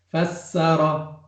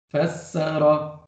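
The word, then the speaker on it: فسّر: Fassara. Fassara. Ficou claro? Ficou como fassara. Ou seja, o sin, eu pronunciei ele duas vezes.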